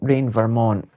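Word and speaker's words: Reign Vermont: last Saturday's live and it's spelled rain as in raining monarch R E I G N as in rain as in weather. Um, Rain Vermont.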